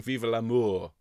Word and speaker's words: vive l'amour: and that's not what we're singing we're seeing vive L'Amour ok vive l'amour so please join me with